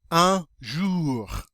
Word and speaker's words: un jour: Un jour. Un jour. That OU is always pronounced like OO. We pronounce the R. Remember that R sound? Un jour.